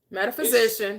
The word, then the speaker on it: metaphysician: Metaphysician. Metap is met. It's pronounced metaphysician. Just like you're saying physician.